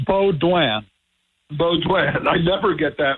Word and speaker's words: Baudouin: How did I do with the pronunciation? Okay, Baudouin. Baudouin. It's Baudouin.